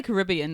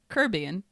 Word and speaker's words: Caribbean: Because when people say Caribbean, they say it like really like Caribbean, but then there's like Oh, yeah.